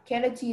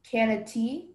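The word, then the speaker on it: cannetille: Yeah, canati is from French. Are there any alternate pronunciations? There is canati, canatil, and canati.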